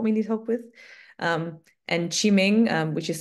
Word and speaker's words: Qiming: And Qiming, which is spelled Q-I-M-I-N-G for Sriram, our tech lead.